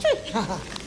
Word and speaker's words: Twi: spell tree it's it's by tw but it's pronounced tree they say i mix up spell and pronouns